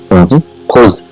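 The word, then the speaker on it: خذ: What it is pronounced is khuz.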